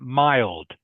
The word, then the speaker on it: mild: favorite season by the way the word is mild Leon can you say that mild m m i l d is pronounced mild mild good okay not not mil